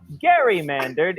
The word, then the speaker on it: gerrymander: to be gerrymandered i said uh jerry no garymandard is how it should be pronounced there's a term called gerrymandering some people